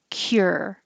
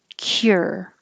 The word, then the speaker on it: cure: This can be very simple, just cure. So the like you're saying her, but make a K and your tongue slides down from a high position to the R, cure, cure.